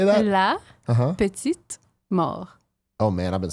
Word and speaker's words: la petite mort: La petite mort.